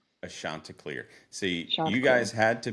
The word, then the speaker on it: Chanticleer: Now, how do you pronounce your mascot? Ashantar. Ashantar.